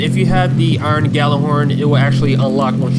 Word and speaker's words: Gjallarhorn: Uh, you will actually be given the Galah Horn. It's it's probably pronounced Yalah Horn, but I always called it the Galah Horn, so I'm going to continue to call it the Galah Horn.